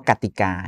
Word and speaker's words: กติกา: เช่น เดียว กัน เช่น คำ ว่า กติกา เห็น มั้ย ครับ ก ไก่ เนี่ย ไม่ มี รูป สระ อะ แต่ ต้อง ออก เสียง เหมือน กับ มี สระ อะ ประกอบ คณะ ค ควาย